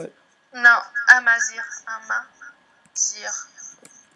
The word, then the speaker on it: Amazigh: How do you spell it? No, Amazir, Amazir.